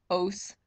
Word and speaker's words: ose: Ose. Rhymes with gross, means it's a sugar, so it's a five-carbon sugar.